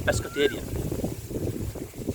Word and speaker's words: pescatarian: Yes, you are called a pescatarian.